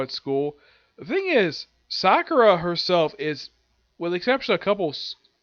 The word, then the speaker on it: Sakura: that yep the episode surprisingly starts off with Sakura I'm gonna pronounce her like that because that's the appropriate